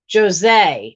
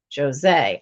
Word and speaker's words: Jose: Jose. Okay, so it's pronounced like there's a Z in it. Jose.